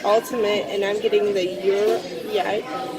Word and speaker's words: gyro: He's getting the ultimate, and I'm getting the Euro. Yeah, how do you say that? The Euro. The Euro. I would say gyro pizza.